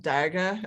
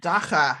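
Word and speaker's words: dagga: Yeah, so the South African term for marijuana is not daga, as I was saying it, it's dacha.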